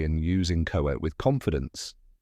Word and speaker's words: inchoate: Spelling tip, it may look tricky, but just remember it starts with in and ends with ate. Now you can say and use in-cho-ate with confidence, like subscribe, and share with your fellow word lovers.